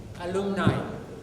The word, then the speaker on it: alumni: So, the doctors who left, remember, the word is alumni. It's not alumni, it's an alumni. You're all studying in colleges. The pronunciation should be perfect.